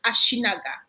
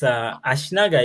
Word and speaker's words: Ashinaga: So, can you tell us Ashinaga? Am I pronouncing it correctly in the first place? Yes, yeah, perfect. It's Ashinaga is Yeah.